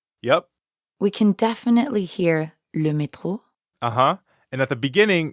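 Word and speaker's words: le métro: just means yep and the french r is in the middle of metro so it sounds like you're clearing your throat excellent now let's plug le metro into something useful like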